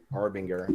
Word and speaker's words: Arbinger: It's by the Arbinger Institute. I think that's how you say it. Arbinger, yeah.